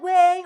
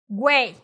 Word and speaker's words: güey: but yes is right the two dots on top of the U that is telling you you have to pronounce the U right on top of